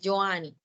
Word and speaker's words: Johanny: No, pues normalmente me dicen. Johanny. Ok, Johanny. Sino que yo estaba diciendo Johanny. Y es Johanny.